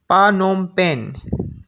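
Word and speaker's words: Phnom Penh: और कंबोडिया का कैपिटल है, उसको प्रोनाउंस करना थोड़ा मुश्किल है, वो मैं कर देता हूँ, लेकिन आपको स्पेल भी शो करा दूंगा, पानोम पेन।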